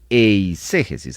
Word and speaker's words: eiségesis: latina s e g e s i s eiségesis así como lo Oye que es muy distinto